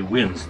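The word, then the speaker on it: winze: have here is what is known as a winds that is spelled w-i-n-z-e lenses are shafts that are dug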